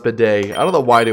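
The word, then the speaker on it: Bede: Let's Wait, bead is pronounced bidet? Really? That's the toilet thing, right? Like the toilet seat thing? It's pronounced bidet? I thought it was just bead. That's kind of bidet, huh?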